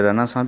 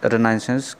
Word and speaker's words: Renaissance: दोस्तों, कुछ लोग इसे रेनेसां भी कहते हैं, बट I will pronounce रेनाइसेंस criticism.